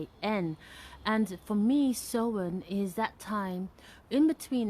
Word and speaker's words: Samhain: based on the celtic tradition of sowen which is spelt s-a-m-h-a-i-n and for me so in is that time in